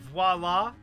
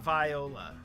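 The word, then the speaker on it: voilà: Green screens were, well, you can, green screen is generally, it's voila, not viola. Voila is V-O-I. Voila is V-O-I-L-A.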